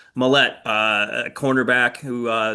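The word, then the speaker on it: Maulet: squad, they signed um Arthur Mala, Mallette. Sorry, I even looked up how to pronounce it and then I got it wrong the first time. Mallette, uh, a cornerback who,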